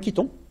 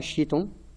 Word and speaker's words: chiton: ou biologie en général, le CH, on le prononcera que. Hein, on ne dit pas chiton, on dira chiton.